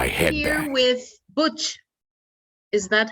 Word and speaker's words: Butch: here with Butch. Is that how you pronounce it?